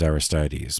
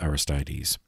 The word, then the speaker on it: Aristides: philosopher who converted to christianity uh this is aristides machianus aristides or aristides of saint saint aristides of athens that's spelled a r i s t i d